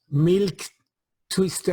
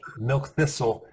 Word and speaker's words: milk thistle: Milk twister, I never pronounce correctly. Milk thistle, and that is very potent for the liver cells.